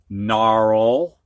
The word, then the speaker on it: gnarl: Previously, the H was silent, but now we've got GN at the beginning of a word, and the G is silent. Gnaw, gnarl, gnat, gnash, new.